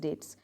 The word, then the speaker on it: debt: A person who is unable to পে his dates, DEBT, এটাকে আমরা উচ্চারণ করব কি, ডেট বলে, বিটা উচ্চারণ করো, ডেটস বলবে না, ডেটস এরকম বলবে।